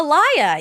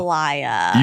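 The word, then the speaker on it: Alaïa: his last a l a i a oh Alia yeah I love aliia you do he's passed right I think she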